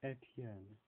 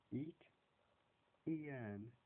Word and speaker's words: Etienne: It's Etienne. Etienne. They say like eat, Ian, Etienne. That's it.